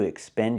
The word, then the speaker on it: expand: to pronounce it correctly we have to use the an sound like man and fan expand not expand I